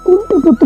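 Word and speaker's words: কুন্তিপুত্র: বিজয়ম রাজা কুন্তি পুত্র এবার আসি আমরা একটু কুন্তি পুত্র উচ্চারণটা দেখব পয় রসুকার দন্তের নয় তয় দীর্ঘিকার কুন্তি পুত্র আমি পয় রসুকার ঠিক রাখছি ত র ফলা উকার কিন্তু এখনো দেই নাই তো এখন এখানে একটা আমরা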